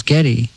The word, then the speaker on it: Geddy: But when she pronounced it, everyone thought it was Geddy.